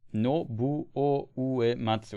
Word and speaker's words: Nobuo Uematsu: Nobuo Uematsu. It's really hard to say for me. I don't know why. It's spelled like this, I think.